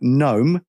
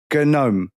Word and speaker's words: gnome: me a word like gnome, I go gnome. Yeah. And they go, "No, you don't pronounce the G."